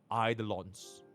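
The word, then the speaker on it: Eidolon: least a E2 it's idolon it's idolon right it's e i d right it's not a y d not Aon right it's idon right I'm Chinese and even I can pronounce it properly idon for her to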